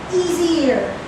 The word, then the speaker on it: easier: on this again pronunciation easier can everybody say easier easier easier it should be easier with supposedly a z not an sh easier e it should